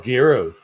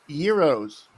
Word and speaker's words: gyros: ugh, Oh, gyros. No, Euros. Say it right. Gyros. gyros, You just like gyrating. Now shut up. I just gyros. it's gyros. They're Euros. The G is silent.